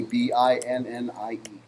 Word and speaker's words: Binnie: I can't remember how it's pronounced. Binnie, Binnie.